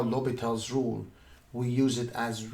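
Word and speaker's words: L'Hôpital: section 4.4 indeterminate forms and Obatala rule l'hopital the name has essence well we don't pronounce it just so you know we have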